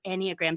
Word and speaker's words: Enneagram: anagram not enag not en it's and it's pronounced anyag so enia just means nine in Latin and